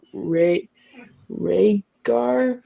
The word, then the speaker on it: Rhaegar: Um I don't know how to say his name, but it's like Ray Rhaegar. I don't know. Perfect. Rhaegar.